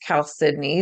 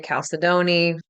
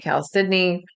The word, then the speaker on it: chalcedony: So, one of the wonderful stones, the way I pronounce it is chalcedony. That can be a stone that works really well. Some people say chalcedony, I say chalcedony.